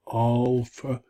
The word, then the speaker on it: alpha: So alpha, as in aha, father, drama.